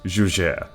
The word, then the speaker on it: Juger: It rhymes with Luger. Breaking into the number 10 spot are the Juger Pistols. Actually, I lied. It's pronounced Juger.